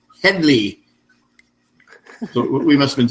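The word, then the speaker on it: Hedley: First off, I can hear Harvey Korman scream, "It's Headley."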